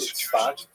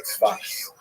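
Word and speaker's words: צפת: And that is the incredible explosion of spiritual, literary, religious activity that occurred in the northern Israel city of Safed, pronounced in Hebrew Tzfat or Tzfas.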